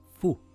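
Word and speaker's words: فُ: With a fatha, it is pronounced as fa. With a dhamma, it is fu.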